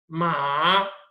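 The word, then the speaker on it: 马: तो this is different, ये pronounce different तरीके से होता है, लाइक पहले आप टोन को नीचे लेके जाओगे आ की, फिर आप इसे ऊपर लेके आओगे मा, ठीक है, और इतना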